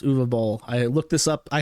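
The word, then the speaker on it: Uwe Boll: Um, and then announces that he is going to be fighting Uva Ball. What does that mean? Uvuva Ball. German film director. very weird name. It's spelled UA Bal, but it's actually pronounced Uvo Ball.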